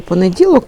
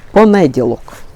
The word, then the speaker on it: понеділок: суху гілочку підріжу і в неї наголос в слові понеділок був на понеділок вона весь час Коли